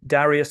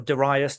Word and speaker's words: Darius: So Alexander the Great, the dashing young Macedonian king who defeated Darius or Darius, depending on how you want to pronounce it, the third of Persia,